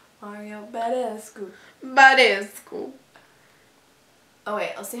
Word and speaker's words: Badescu: Badescu. And then is this just Mario? Is that just Mario? Yeah, or Mario. How to pronounce Mario Badescu.